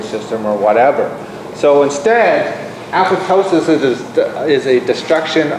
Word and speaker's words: apoptosis: the cytotoxic te- cell it induces apotosis I think I saw a video where they they pronounce that apoptosis apoptosis this is cell Death From